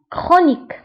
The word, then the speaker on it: chronique: فانتبهوا هنا بالنسبة للكرونيك فتكتب بالسي اش وتنطق بك chronique.